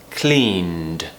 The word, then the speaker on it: cleaned: mean in a second so for example the word clean it finishes with a MM sound mmm clean so if we want to add II D on the end cleaned so it's a very